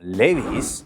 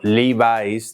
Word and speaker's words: Levi's: Esta es la historia de como Levis o livis, depende de donde seáis, porque algunos a veces me decís, "No se dice Levis." Levis es como lo decimos en España, es una españolización del nombre.